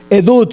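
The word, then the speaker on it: עדות: Edut, se escribe como suena. Edut, con T al final.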